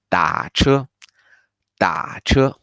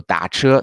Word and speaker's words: 打车: you feel this one is very hard to pronounce, we also have an easy way for get a taxi. We can say 打车，打车。打 literally is to hit, right? So 打车 to wave, or you dial the number for